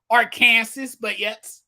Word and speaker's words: Arkansas: You might have seen my joke earlier today about Arkansas, how it's pronounced. Arkansas, but yes, we all know they call it Arkansas.